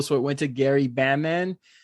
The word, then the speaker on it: Bamman: The role of Uncle Frank was originally written for Kelsey Grammer, but he was unavailable, so it went to Gary Bamman. Not Batman, Bamman.